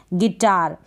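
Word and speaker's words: guitar: आपको जी के बाद यू तो लगाना है लेकिन इसको प्रोनाउंस नहीं करना है, गिटार।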